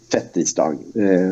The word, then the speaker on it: fettisdag: Så det är ju inte fett. Det har inget med fett att göra utan fet. Men ändå så har det blivit fettisdag. Så därför föredrar man då ändå det uttalet. Men det är fet tisdag som är ursprunget.